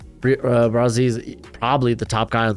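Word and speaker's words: Bresee: Detroit Lions are going Brian Brazil out of Clemson, and I'm going to continue pronouncing it that way because straight up, that's how it's pronounced on the Clemson website.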